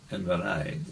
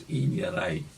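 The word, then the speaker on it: Inverey: And so the village in Inverai was Inyarai, Mm. with the EI as in height.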